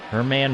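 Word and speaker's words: Germán: say his name not german herman marquez marcus hermann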